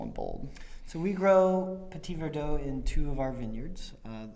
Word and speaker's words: Petit Verdot: i hope you enjoy 2017 estate red mountain petit verdot excellent thank you great pronunciation